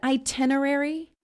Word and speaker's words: itinerary: Would you pronounce it itinerary? Yes, itinerary. I almost say it like Itinerary. I-10, itinerary. I almost say it like the T-E-N instead of a T-I-N, itinerary.